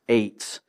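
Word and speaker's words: עץ: We spell it in English, a transliteration, E-T-Z, but it's pronounced eitz, like A-I-T-Z or something like that.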